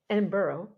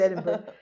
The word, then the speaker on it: Edinburgh: and then he wound up in the Edinburg edinberg where we've been I should know how to say it I said Edinburgh in the Edinburgh Zoo where he spent the